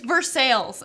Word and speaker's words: Versailles: know we don't take kindly to people who pronounces Versailles you can say that but good luck yeah it's Versailles okay Versailles sorry but if you come here